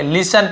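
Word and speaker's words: listen: complete पूरा करना लिसन यहां पर भी लिन नहीं पढ़ेंगे लिसन पढ़ेंगे लिसन यानी होता है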